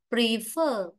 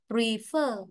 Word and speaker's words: prefer: Còn ở đây ta đọc là prefer, prefer, huyền ngang, nên trọng âm nó rơi vào âm tiết thứ hai.